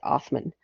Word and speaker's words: Osman: what we considered turkish or um from ataturk osman the first um they pronounced othman rules from 1299 to 1326 and this is